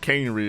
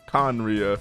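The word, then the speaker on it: Khaenri'ah: 500 years ago conria i had no idea how to pronounce that i was going to say something on like canery or something but apparently conriya okay this is actually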